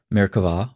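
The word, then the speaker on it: Merkavah: mysticism called merkava mysticism frequently spelled with a b but pronounced with a v merkvah or throne mysticism refers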